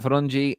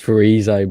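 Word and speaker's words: Ferizaj: Can Zefi and Farungi are off. Farungi. His name's not Farungi. It's spelled wrong. It's Farizai, but it's spelled wrong.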